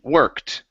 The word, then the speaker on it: worked: ending here okay so instead of saying working the word is work with the T sound at the end okay so let's try that worked work it okay Boy